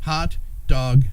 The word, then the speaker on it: Haute Dauge: a great sounding business hot dog portraits and tell them how it's spelled h-a-u-t-e like hot couture and then dog d-a-u-g-e but it's pronounced dog so you can't spell